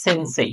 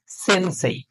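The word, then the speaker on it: せんせい: আপনি জাপানিজ বর্ণমালার একটা ওয়ার্ড রয়েছে সেটা হচ্ছে সেনসেই আপনি কিন্তু ওটাকে পড়ার সময় সেন্সে পড়েন না আপনি ওটাকে পড়েন সেনসেই এজন্য এটাকে সে পড়বেন সে তাহলে উচ্চারণটা সহজ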